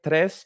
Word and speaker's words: tres: It's named tres because it's the Spanish word for three. It's pronounced tres, and it's reference to the 3GS library, of course.